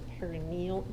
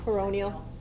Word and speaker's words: peroneal: One note, the deep fibular nerve also is known as the perineal, how am I going to remember how to say it? Good grief. Peroneal. Okay, thank you. Even though the spelling's not perineal, so yeah. Peroneal is probably right.